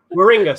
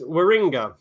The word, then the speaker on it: Warringah: in the seat of warringah yeah Moringa sorry I've always pronounced it as well because I'm because I'm English it's waringa yeah yeah yeah it's